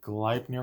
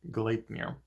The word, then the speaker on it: Gleipnir: Funimation called collinear I was actually calling it glide near for a while because I didn't really know how to pronounce it it was just word and I